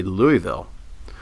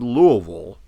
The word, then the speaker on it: Louisville: witness that same phenomenon uh when people say Louisville so a person without a southern accent will